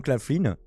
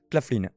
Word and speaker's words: Claflin: On en profite pour revoir Mosley, justement, qui est toujours admirablement interprété par Sam Claflin, que je ne connaissais pas avant cette série, mais qui gère la fougère, comme on dit, non?